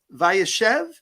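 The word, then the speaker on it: Vayeshev: Parsha this week and um Rabbi is it pronounced via Chev caused by airship so kind of a slight Accent on the second symbol correct correct and Rabbi I just want to start out what does vaishev mean what does that word literally mean so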